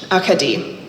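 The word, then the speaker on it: Acadie: Akadi. I repeat the unfamiliar pronunciation. Akadi, putting the emphasis in different places than the English Acadia I'd been using.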